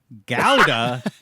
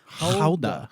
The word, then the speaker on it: Gouda: This is the Dutch pronunciation. Gouda.